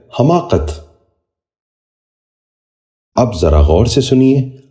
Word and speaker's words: حماقت: غور سے سنیے، حکایت۔ چھٹا لفظ ہے حماقت۔ یہ غلط تلفظ ہے، درست تلفظ ہے حماقت۔ اب ذرا غور سے